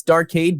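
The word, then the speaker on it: DArcade: uh yeah it's it's it's dark aid but it's d and it's spelt d arcade token but it's not just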